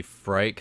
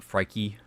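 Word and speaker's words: Phrike: I think it's supposed to be Frike, not Frikey, but people pronounce it a little bit differently.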